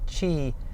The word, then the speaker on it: Qi: familiar with Qi charging its Qi pronounced Qi and that's the wireless